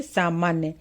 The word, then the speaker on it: सामान्य: जैसे सामान्य, तो बच्चे आधा जो न लिखा हुआ है इसको भी पूरा न की तरह पढ़ते हैं, जैसे सामान्य।